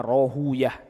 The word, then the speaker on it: Rahawayh: Begitu juga ini fatwanya Al-Imam Ishaq bin Rahawayh. Ada yang membacanya Rohuyah.